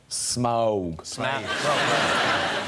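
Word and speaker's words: Smaug: on the desolation of smog. That better was that really? Yeah. Smog as in crowd. Yeah. Oh it rhymes with crowd.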